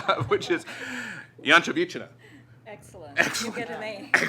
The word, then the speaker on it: Ianchovichina: So my toughest task for the day is to pronounce Elena's last name, which is Ianchovichina.